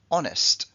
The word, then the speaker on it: honest: con esta palabra porque honest es una de las pocas H que no se pronuncian en inglés honest honesto sinónimo sincere sincero